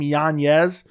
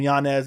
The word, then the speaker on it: Yanez: it out to me and apparently he actually pronounces his last name janeez but he lets people just call him Yanez because apparently it's just easier because everyone started